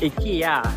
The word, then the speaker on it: IKEA: IKEA.